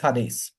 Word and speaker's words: Hades: I thought it was Hades it's not it's Hadis now just like we identified when we studied